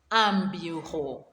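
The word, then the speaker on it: un bureau: how do we call a desk in french ambujo a correct well done for that i hope you are able to pronounce them correctly let's now form sentences using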